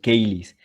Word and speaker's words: caelis: No se dice cheli, sino caelis.